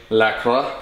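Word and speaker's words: LaCroix: How do you pronounce that, bro? You're French. La croix.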